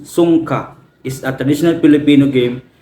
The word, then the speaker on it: Sungka: Songka, pronounced Songka, is a traditional Filipino game where two players compete to capture the majority of shells.